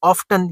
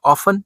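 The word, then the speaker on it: often: वही बात दोबारा, goods and services subject to Veblen effect are ऑफ्टन या ऑफन, जो भी प्रोनाउंसिएशन आप यूज करते हैं, कंसिडर्ड स्टेटस सिंबल्स।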